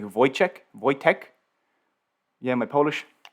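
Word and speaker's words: Wojtek: but arthur m in the chat is saying wood check is actually pronounced like voice check voy tech yeah my polish not great but thanks for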